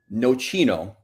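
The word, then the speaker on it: Nocino: So, so let's let's start with no chino.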